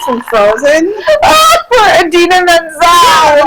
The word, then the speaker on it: Idina Menzel: Smith Nunn wrote, did she go to the Adele Dazeem School of Name Pronunciation? Yeah, when dumbass Jackson went to Adele Dazeem for what's her name from Frozen? For Idina Menzel.